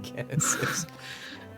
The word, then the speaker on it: Genesis: Nah, it's a hard G on Genesis. It's Genesis.